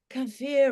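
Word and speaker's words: kefir: stuff maybe um cfir cfir rhymes with steer maybe the cfir from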